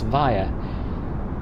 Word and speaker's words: via: correct way to pronounce via i think there are you can pronounce it either via or via i use both it's